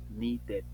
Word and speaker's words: needed: ID dices started si termina con d como el need y le pongo Ed Si suena la Ed needed Okay aprendo me aprendo